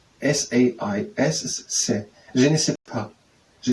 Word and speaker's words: sais: Okay, size is pronounced se. S-A-I-S is se.